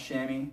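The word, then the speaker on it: chamois: shirts did I say sham earlier they're it's pronounced shammy the shammy cloth shirts I usually get like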